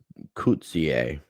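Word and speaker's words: Coetzee: i wanted to point out here uh it's kuzier is how you pronounce it obviously angeli cousier um dr angelique coutier um you're you're just getting a lot of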